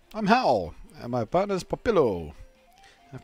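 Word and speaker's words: Hau: How do you even pronounce that? Howl? I'm Howl.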